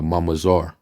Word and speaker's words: mamzer: word bastard all right mamser which is actually the the the correct way of pronouncing it in the Hebrew was uh mamar and it says right